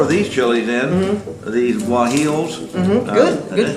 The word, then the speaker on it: guajillos: So you're putting more of these chilies in, these guajillos. Good pronunciation.